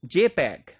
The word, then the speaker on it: JPEG: so for that what we use we use jpeg JP EEG this is pronounced as JPEG and this is standard developed